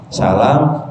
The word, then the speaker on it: salam: tanya ini ni beliau menjawab salam salam la l a a m jadi a-nya agak panjang salam itu ucapan Ahli